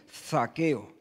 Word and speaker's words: Zaqueo: Mira que nos resulta difícil pronunciar la Z aquí en Andalucía. Zaqueo.